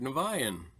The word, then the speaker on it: Niviane: Niviane.